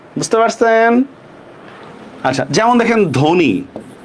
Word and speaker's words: ধ্বনি: আচ্ছা যেমন দেখেন ধ্বনি, বফলার উচ্চারণ হবে? নাই, কোনো উচ্চারণ নাই, ধয় ওকার, নরস্কার নি, ধ্বনি।